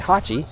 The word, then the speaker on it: Haoqi: That's the Haoqi is the proper way you pronounce that.